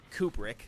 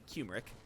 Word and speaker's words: Kubrick: name wrong but yeah I still blame Kubrick not kumeric turmeric you know the